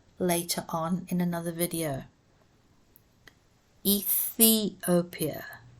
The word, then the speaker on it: Ethiopia: Ethiopia, say the th.